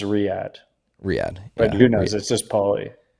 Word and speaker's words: Riyadh: Pauly says it's pronounced Riyadh.